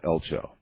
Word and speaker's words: Eltjo: It's spelled E L TJ O, but pronounced uh, Elcho.